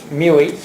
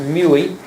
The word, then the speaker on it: Muehle: Muehle. M-U-E-H-E. No L. That's right, M-U-E-H-E, pronounced Muehle, like Huey.